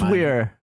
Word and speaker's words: Elsweyr: It is spelled Elsweyr, Yeah, like And that's like stupid. Never mind. elsewhere.